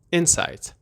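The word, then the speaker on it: insight: با همدیگه یاد بگیریم اول تلفظشو دقت کنین میگم اینسایت اسس رو اون بخش اول کلمه هستش انسایت به چه معنیه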